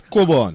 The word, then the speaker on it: Cockburn: Yes, I was saying the other name is Cockburn. Where they pronounce as Coburn. Coburn, yes.